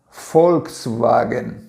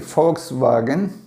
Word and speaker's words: Volkswagen: automóveis que se chama Fox Vagem ok foxvagem ele se pronuncia começa com a ver que na verdade é folga tá E aí que você